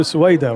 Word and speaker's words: Soweda: So I will back to Soweda, right? Did I pronounce it correct? Perfect. Soweda, tell us about your journey to your study